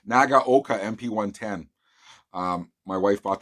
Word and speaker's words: Nagaoka: so happy with this is the uh nagat nagaoka and i finally said it right nagaoka mp110 um my wife bought this for me